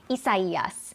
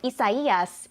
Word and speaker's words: Isaias: So Isaias is a Spanish name. So I know it looks like Isaias. We're getting a lot of comments. Why don't you just say it like that? It has come with a guide on how to say the name. We're trying to stick with it, and unfortunately, we're going